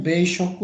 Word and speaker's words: 米食: Nihonjin no ini dibacanya beishoku ya, makan beras atau makan padi ya, makan nasi.